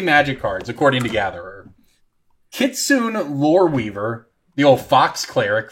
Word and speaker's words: Kitsune: Kitsune Loreweaver, the old fox cleric from Saviors of Kamigawa. It's Kitsune, but okay. Whatever, man. Scourge! You're getting Oklahoma pronunciations tonight, all right?